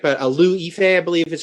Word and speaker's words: Liu Yifei: I don't know if I'm going to pronounce her name right, but Liu Yifei, I believe is how you pronounce actress who plays Mulan, of course.